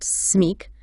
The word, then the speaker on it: SMIC: Now, acronyms take the first letter of each word in a phrase, and you pronounce it as one word. Like SMIC, pronounced SMIC, which stands for Salaire Minimum Interprofessionnel de Croissance, the French minimum wage.